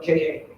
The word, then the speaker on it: ka: It's spelled K-A. Everybody say it. Okay. It's called ka.